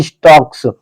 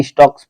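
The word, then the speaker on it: stalks: ही स्टक्स यहां पे स्टॉक यहां पे एल साइलेंट रहता है। स्टक्स पढ़ा जाएगा।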